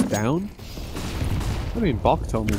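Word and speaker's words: Stavn: I think I actually heard that Stavin's name is pronounced Stown.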